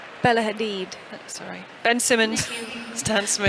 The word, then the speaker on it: Hadid: Yeah, we're going with the pronunciation of Ciara. Yeah. Rebel Wilson, Spike Lee, Bella Haddad, Pusha T. Bella Hadid.